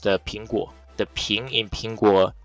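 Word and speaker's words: 苹果: something it's because Apple in Mandarin Chinese is pronounced Pingu the Ping in pingua rhymes with uh peace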